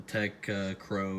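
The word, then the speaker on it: Tektro: The Tech Crow is how you pronounce it, I believe.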